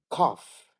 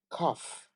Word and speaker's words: cough: rhymes with Tough Enough cough cough off H I feel like